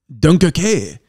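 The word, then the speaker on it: Dunkerque: do love Dover Soul so Dunkirk in English Dunkirk duncake in French it's a Seaside location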